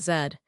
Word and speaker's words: Z: This is the great Atlantic divide. USA pronounces it Z. UK/Canada/Australia pronounce it zed.